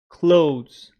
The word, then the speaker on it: clothes: things on the person talking to you so close close let's go to Longman dictionary our final